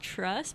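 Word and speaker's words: TRVSS: mara new modern and I believe it's pronounced trust but it's TR VSS that is one of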